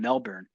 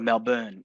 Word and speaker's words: Melbourne: And I was just recently at the Built event in Australia, in Melbourne, or Melbourne, as I was told to pronounce it.